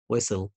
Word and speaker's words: whistle: بالمقطع ده أعرف إن T silent letter زي castle whistle wrestle Okay.